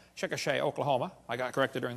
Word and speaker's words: Chickasha: textbook still has it 2005 textbook and i pronounced it wrong as chickasha not chickasha chickasha oklahoma i got corrected during the break uh